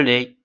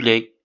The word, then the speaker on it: lait: baignier c'est quoi le lait c'est du lait lait lait l a I t alors t ne se prononce pas l en pron seulement